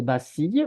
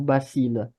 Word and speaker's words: bacille: bassille psychique g la la prononciation c'est bacille ou bacile bacile moi je dis bacile l s'il te plaît